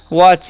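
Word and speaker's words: watch: ठीक है अब देखिए डब्लू ए टी सी एच है तो डब् का डब्लू ए का उच्चारण व और टी सीए जब भी रहेगा उसका चा चारण च कर देंगे तो क्या हो गया वच इसे हम क्या पढ़ते हैं इसे हम पढ़ते हैं वच ठीक है याद रखना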